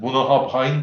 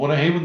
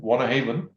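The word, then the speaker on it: Bunnahabhain: whisky şey bu böyle şişenin üzerinde garip bir kelime görürseniz Bun Hub hain diye o Von Haven diye okunuyor won Haven Eee o whisky e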